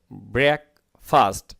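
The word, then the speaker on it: breakfast: তার যে ছোটোখাটো যে ওই যে চেম্বার আর কি, আফটার পর, ব্রেকফাস্ট নাস্তার পর, ব্রেকফাস্ট মানে নাস্তা, উচ্চারণ হবে ব্রেক, তার ফাস্ট, ঠিক আছে?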